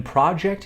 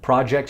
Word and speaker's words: project: When project is used as a verb, project has a different pronunciation than when used as a noun. When used as a noun, we say project.